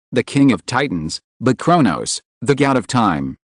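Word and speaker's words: Chronos: No, I'm not talking about Kronos, the king of Titans, but Kronos, the god of time. The pronunciation is different. Can you hear it? Look at my mouth. Kronos.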